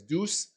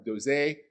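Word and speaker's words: Doose: Some people pronounce it as deuce. Some people pronounce it as doze. Actually, Dr. Doza, actually, that's how they pronounce it themselves. So it's doza syndrome.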